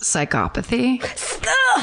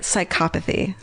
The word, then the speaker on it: psychopathy: I also think the word earlier is pronounced psychopathy. I knew I was getting it wrong. But when I read it, I read psychopathy too. You're totally right. Psychopathy.